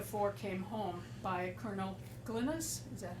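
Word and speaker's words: Glines: the book, The Four Came Home, by Colonel Glynis, is that how we pronounce Yep.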